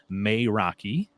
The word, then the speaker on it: Meraki: pronunciation I looked in the book of course it says may Rocky and uh and then